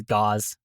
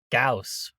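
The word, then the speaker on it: Gauss: Gaus rifle. House rifle. Like rifle. Not not like gauze. Not like gauze. You're wrapping your arms in. Gauze rifle. Like house. Gaus rifle.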